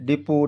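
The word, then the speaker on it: depot: की मात्रा है इसमें डी ई पी ओटी डिपो डिपो मीस गोदाम फिर इसी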